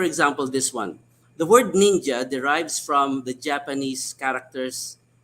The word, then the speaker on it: ninja: So we say ninja the way it is pronounced in Japanese, ninja, or boondocks, where the language where it came from, that's how it is pronounced.